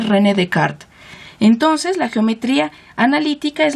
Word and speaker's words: René Descartes: llama el plano cartesiano por rené descartes porque así se escribe en español pero se dice rené de cart entonces la geometría analítica